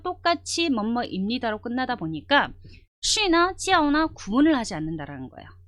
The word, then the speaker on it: 叫: 자, 여러분들 발음하실 때 J예요. 그죠? J로 시작됐어요. 그러면 발음이 굉장히 좀 세져요. 어떻게 세지냐면 우리나라식으로 그냥 한글로 써 본다면 치, 아, 오의 형태거든요. 이거를 굉장히 빠른 속도로 읽어주는 거예요. 찌아오, 찌아오 이렇게 돼요.